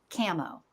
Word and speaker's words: camo: Sometimes it's abbreviated to just these 4 letters, and then it's pronounced camo.